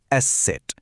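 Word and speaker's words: Eszett: দেখতে এটা অনেকটা ইংরেজি বি এর মতো লাগতে পারে কিন্তু এর কাজ আর উচ্চারণ দুটোই একদম আলাদা। এই বিশেষ অক্ষরটার নাম হল এসে সেট।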